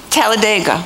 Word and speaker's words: Talladega: How do you say it? Talladega. Talladega. Oh, good.